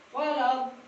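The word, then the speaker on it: ولا الضالين: Ini menunjukkan panjangnya 4, 6 harokat. Bacanya gimana? Waladdallin. Karena ketemu asli nih, tasjid.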